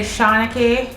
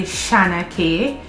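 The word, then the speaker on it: Shana-Kay: how to pronounce like a lot of people say shauna k um but it is spelled s-h-a-n-a hyphen k-a-y it's actually shana k some people say shanna but a lot of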